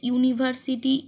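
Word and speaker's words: university: দেখো there is dash ইউনিভার্সিটি ইন our district এখানে কিন্তু ইউ আছে সেক্ষেত্রে আমাদের এন হওয়ার কথা কিন্তু হবে না কারণ হচ্ছে ইউ টা কিসের মধ্যে উচ্চারণ হচ্ছে কনসোনেন্ট এর মতো তো সেক্ষেত্রে কিন্তু আমাদের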